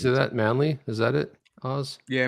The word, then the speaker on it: Manly: Manly? Is that it? Oz? Yeah, Manly, New South Wales.